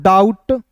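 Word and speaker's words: doubt: डी ओ यू बी टी इसे पढ़ेंगे दोस्तों डाउट। डाउट नहीं पढ़ेंगे। यहां पे बी साइलेंट होगा।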